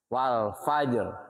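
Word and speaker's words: والفجر: Wal fajr. Nah, harus nampak. Kalau wal fajr, ro-nya hilang, berubah makna.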